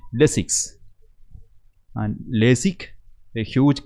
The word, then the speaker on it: Lesics: A small introduction of Y sound makes a huge difference. Moreover, that our word has an S sound also in the end, right? Lesics.